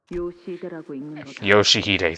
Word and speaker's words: Yoshihide: Ryoshu? No, that's not how you read those letters. Yoshihide, that's how you say it.